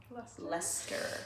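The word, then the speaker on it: Leicester: BFL sock, I think, is just 100% bluefaced leer. I pronounced that wrong in the last video.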